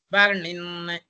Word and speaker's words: Varnin: No, that in we have to slightly extend, like Mahan. In Vishnu Sahasranam also, when it comes at the end, Mahan, we pronounce it as Mahan. Like that, here also Halant is there. That the finishing touch we have to give.